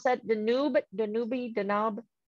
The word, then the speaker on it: Danube: can you can somebody correct me how to pronounce that the noob danube the knob dan noob thank you all right an unparalleled hive amazing